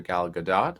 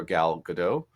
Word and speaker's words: Gal Gadot: depends on who you ask, her name is pronounced either Gal Gadot or Gal Gadot, which is so fun because often in this